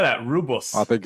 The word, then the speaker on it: Rooibos: Rooibos. I think it's spelled wrong there. Rooibos.